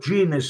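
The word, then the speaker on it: Gans: known his dad was called Dennis genus but genus spelled with a g g a n s but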